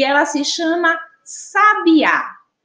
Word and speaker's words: sabiá: a palavra sabe a a gente consegue identificar um a sílaba na qual a gente pronuncia com mais intensidade né em que a